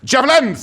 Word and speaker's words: javelins: It's pronounced javelins.